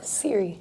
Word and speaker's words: Siri: Siri. Siri. Siri. C-I-R-I. S-I-R-I. S-I-R-I. Yeah. Just almost like the...